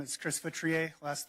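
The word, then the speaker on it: Feutrier: Hi, my name is Chris Vrier. last name is spelled F as in Frank, EU, T is in Tom, R I E R.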